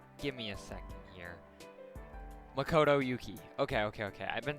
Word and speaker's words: Makoto Yuki: I still don't know how to pronounce his name. Give me a second here. Makoto Yuki.